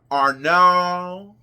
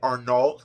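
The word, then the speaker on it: Arnault: lvmh and Mr Arn Arnold I was pronouncing it Arnold but it but it is arnol and um I'm not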